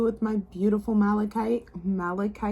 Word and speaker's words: malachite: For those of you who chose group number 2 with my beautiful malachite, I said it right this time because it was like malaconite last time.